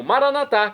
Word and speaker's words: maranata: E agora eu clamo maranatar, como dizemos nós católicos, ou maranata, como dizem nossos irmãos separados das comunidades evangélicas ou protestantes. Não importa a pronúncia, o significado é o mesmo.